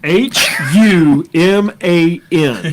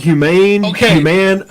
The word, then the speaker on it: Human: H U M A N. Human. I get called Humane. Human, not Chinese.